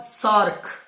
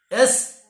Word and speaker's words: SAARC: This is pronounced as what? SAARC. SAARC.